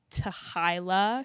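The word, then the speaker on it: t'hy'la: Some people pronounce it like to hila something and it translates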